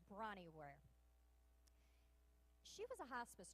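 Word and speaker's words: Bronnie: see but I'm sorry it's not Bonnie it's brawny I keep missing that are in there when I say her name her name is brawny where she was a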